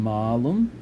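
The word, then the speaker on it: mālum: Notice the long A on malum. So malum with a short A would mean a bad thing, neuter of the adjective malus. Malum with a long A means apple.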